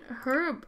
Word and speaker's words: herb: is this crockery kitchen herb rack or herb rack depending if you pronounce the age where you're from oh my gosh I